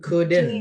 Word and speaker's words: couldn't: She couldn't. Bacanya couldn't ya. Couldn't get in. Couldn't. Get in. Couldn't get. Couldn't. L-nya nggak usah dibaca ya, bukan couldn't.